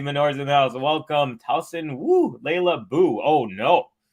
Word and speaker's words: Tauson: he's just saying Covey you're just uh reading it incorrectly it's Towson it's Clara Towson and I keep saying Klaus and you're right I was